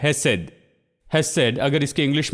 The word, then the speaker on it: hesed: है, ये हिब्रू शब्द है, और ये है हेसेड। हेसेड, अगर इसके इंग्लिश में स्पेलिंग देखें तो ये है HESED, हेसेड।